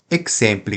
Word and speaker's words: exempli: Exempli gratia não tem acento. Então vai ser o xe, xe, xe, que é uma paroxítona. Exempli, exempli, tá?